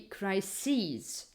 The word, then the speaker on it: crises: in English is that those plural forms always have the stress always have the the accent on the last syllable and the last um part you know pronounceable part of the word so the singular would be crisis the plural would be crises analysis analyzes then for